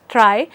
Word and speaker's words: trie: from other tree structures it is not pronounced as tree it is pronounced as try or tries so uh you know